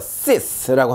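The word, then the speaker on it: six: 6이라는 숫자죠. sis라고 합니다. sis. 여기서는 시옷 발음이 났어요. 자, 다음 보시면 여섯 번째라는 단어인데요. czm 합니다. 자, 지읒 발음. czm. 얘는요, sis.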